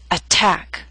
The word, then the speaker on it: attack: through these three examples attack is a word with two syllables stress is on the second attack so T although in the middle of the word is at the beginning of a stress syllable so we have a true t attack appetizer and secretary